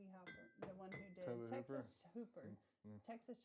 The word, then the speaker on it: Hooper: My first one is How do you say his last Is that Hopper or Hooper? Tobe Hooper, the one who did Texas Hooper, Texas Chainsaw Massacre.